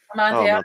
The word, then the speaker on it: Amontillado: Amontillado something? Amontillado. Oh, Amontillado. Oh, so good. What is that, How do you pronounce it? Amontillado.